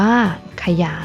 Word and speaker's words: ขยาย: ฉลาด อ่าน ว่า ฉลาด ขยาย อ่าน ว่า ขยาย นัก เรียน สังเกต นะ